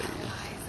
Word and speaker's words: Eliza: Elijah, follow the crowd, please. Eliza. Her name's Eliza.